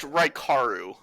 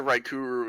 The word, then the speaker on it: Raikaru: His name's pronounced Raikaru. I mean, he answers to Raikuru as well.